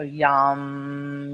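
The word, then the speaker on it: yam: is the young so it's also got the long ah so yum yum yum now the top one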